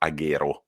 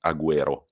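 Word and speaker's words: Agüero: i studied languages and it's not aguero it's aguero why because it's got the two dots on the u which makes the u to be pronounced sorry little language did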